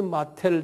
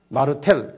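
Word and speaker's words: Martel: 그 장군을 영어로는 찰스 마텔이라고 그래요. M-A-R-T-E-L. 영어로는 찰스 마텔 장군인데 불란서 말로는 샤르르 마르텔, 유명한 장군이에요.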